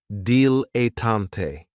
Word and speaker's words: dilettante: is a dilettante, and this word has 3 syllables, and there's kind of like a stress on that first and last syllable, dilettante.